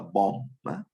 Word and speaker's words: BOM: we call as a bomb to pronounce the bill of material is bomb but always people's pronoun